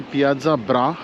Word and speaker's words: Piazza Bra: the main Piazza of Verona it's called The Piazza bra yes that's how it is pronounced so you can go inside the arena